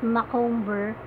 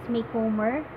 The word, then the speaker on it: Macomber: you pronounce her name I used to pronounce it Micawber but one that I heard from the internet is Macomber so I have been